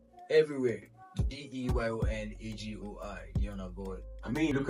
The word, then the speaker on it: Deyon Agoi: It's DEYON AGOI. Can you spell it out? DEYON. It's not Celine Dion. It's not Christian Dion.